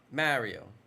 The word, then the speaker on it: Mario: I shouldn't complain Mario they pronounce the a the way that it's supposed to be pronounced like an ah Mario I don't know I can't